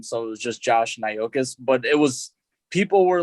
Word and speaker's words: Nyxkiss: it was just Josh Nyxkiss, but it was, people were like, how the fuck do you say that, because it's Naujokas, and that's how you say Nyxkiss.